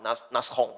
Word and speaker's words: Nashorn: 叫 Nashorn 啊，这个是日耳曼就是德语的发音哈，Nashorn 啊，那这